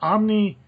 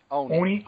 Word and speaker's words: Oni: Fun stuff, if you have never read it before, Omni, I believe, published it. And if you Oni, not my fault they can't publish their, pronounce their name right.